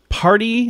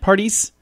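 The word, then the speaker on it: Paradis: on ryder and vanessa party am i saying that right parties i don't think you pronounce the s anyway they have no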